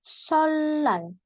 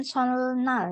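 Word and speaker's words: 설날: menelepon itu yolak kemudian solal bukan solnal ya tapi solar solal itu artinya tahun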